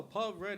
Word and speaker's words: Paul Rudd: I mean, he was funny in Paul Rudd? Anchorman. I was like, It rhymes with Elmer Fudd.